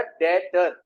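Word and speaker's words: debtor: बाजू में क्या लेगा डेटर बी साइलेंट होता है बोलते क्या डेटर ठीक है और य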